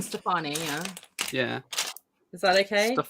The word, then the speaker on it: Stefani: thank you so zan how would you pronounce gwen stefani that's what matt wants to know there you go there's your answer gwen stefani yeah yeah is that